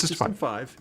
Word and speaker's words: System V: okay good remove system I always call it system five I know that's not true system v no no no no it is system five it is you you say it correctly it's system five all right from the